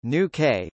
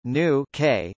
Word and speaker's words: Nuuk: Nuuk, Greenlandic pronunciation, Nuuk, Danish, Nuuk, Danish, Godhop, is the capital and largest city of Greenland.